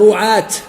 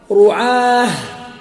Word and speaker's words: رعاة: والتاء هذه الأخيرة لا ينطق بها، لا يقال رعاة ولا يقال قضاة ولا يقال دعاة، هذا خطأ. هذه التاء يرحمك الله، هذه التاء لا ينطق بها، يقال رعاه وقضاه ودعاه وتاء أنثى لم تكن تكتب بها. يعني لما واحد يقف على التاء التأنيث هذه ينطقها هاء.